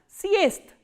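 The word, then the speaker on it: съезд: So, what happens when a voiced consonant comes in the end? They are pronounced as their voiceless counterparts. So, what is the voiceless counterpart of z? This is s. And what is the voiceless counterpart of the? Is t. That is why we are pronouncing this word as siest.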